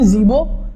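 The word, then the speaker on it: Mvezo: तो जो Nelson Mandela थे ये साउथ अफ्रीका के एक छोटे से कस्बे, उसका नाम है जीबो, एम साइलेंट है, जीबो में इनका बर्थ हुआ था 18 जुलाई 1918 को और डेथ इनकी हुई 5 दिसंबर 2013 को।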